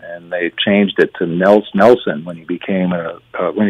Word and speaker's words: Nels: Like supposed to be pronounced Niels, and all of a sudden it's become Nels, which isn't a name there.